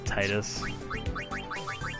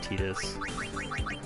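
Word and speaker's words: Tidus: main character's actual name I always call them Titus some people call him tetus it's really however you prefer good luck tonight nothing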